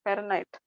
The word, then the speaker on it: Fahrenheit: H is silent, Fahrenheit.